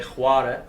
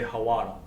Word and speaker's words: hawara: You guys say khwara for white. Yeah. We say hawara. Hawara. With the H. Yeah. Hawara. And you guys kind of like prolong the syllables Hawara instead of khwara.